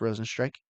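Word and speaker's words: Rozenstruik: kind of fitting that his name is pronounced Rosen strike um I think his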